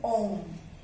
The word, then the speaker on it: ओम: इसको हम बोलते हैं ओम. इसका प्रोनाउंसिएशन है ओम, ओम.